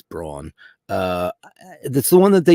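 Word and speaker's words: Braun: It's a brown. That's how you say it, right? It's brawn.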